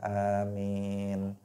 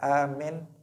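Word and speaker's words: آمين: Tapi bacanya jangan salah. Jangan dibaca amin, amin. Nah, dibaca pendek mimnya atau dibaca salah satunya dibaca pendek, tetapi dibaca panjang. Amin, amin.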